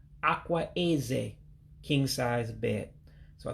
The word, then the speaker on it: akwa: So you can have your king size bed, but at least you know how to pronounce it. And it would be Ah-Kwah, king size bed. Remember the word Ah-Kwah, which means bed, and Eze means king.